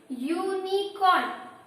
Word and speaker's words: unicorn: Here, when you will pronounce unicorn, the sound comes here is Y, like U. Yes? So when you pronounce unicorn, the sound comes as U or Y.